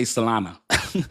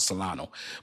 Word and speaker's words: Solana: But why say Solana? Because it's the perfect way. The correct pronunciation is Solana. I mess it up and I chop it up. I call it Solano, but it's not Solano.